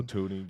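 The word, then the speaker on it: Thuney: He's Joe Tuni. You know it, man. Is it Tony or Tony? Have I been pronouncing it wrong my whole life?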